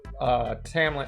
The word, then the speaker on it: Tamlin: If you slap an accent on it, then Tamlin could be pronounced Tomlin. I've seen people who do castings, or like they totally act out entire scenes of the books. Even with an accent, it does not come out Tomlin.